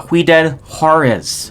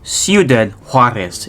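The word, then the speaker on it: Ciudad Juárez: el paso and juarez catch myself before i went further it's ciudad juarez excuse me so my pronunciation needs some work once again apologies it's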